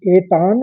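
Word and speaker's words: एतान्: आघात का उच्चारण समझिए तो पहले शब्द को एतान कहेंगे और फिर न लगाएंगे आगे तो एतान एतान अलग बोलेंगे एक साथ और न अलग से आएगा इतना इसमें जरा भेद है तो इसको समझिए केतन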